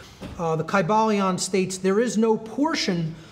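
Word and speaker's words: Kybalion: greek language in which there was no like short y sounds you know it would have been a long i sound chi ba leon and every syllable would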